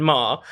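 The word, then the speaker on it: Maher: kind of self-awareness there I have to P you up actually on the on the pronunciation because she's very she she's Catherine Mah and she has accused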